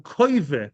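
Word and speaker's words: הכוה: The hakoive, that's the right way to pronounce it, to so to the Mishnah.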